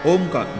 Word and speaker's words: ओम: ओम ओम ओम ओम ओमकार का सही उच्चारण करना चाहिए। ओम बोल दिया तो नहीं चलेगा। पहले मुंह खुला रहेगा फिर थोड़ा बंद होगा। फिर पूर्णतया बंद हो जाएगा और नाद चलता रहेगा।